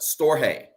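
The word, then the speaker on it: storge: um is what's called storje the g is silent so let me spell it store hey s t o r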